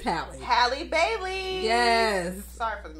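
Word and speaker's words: Halle: is none other than Haley Hi H it's haly Bailey yes sorry for the mispronouncing girl I love you so I've been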